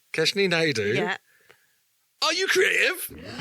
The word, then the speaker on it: Naidoo: Keshny Naidu. Kesh Naidu.